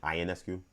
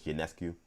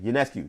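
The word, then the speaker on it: Ionescu: Keep calling her Sabrina Inescu when it's Janescu. And if you ever watch a game, it's always Janescu because the pronouncers always do a good job and like Sabrina Inescu is like Yanescu Yanescu. Yanescu and it annoys me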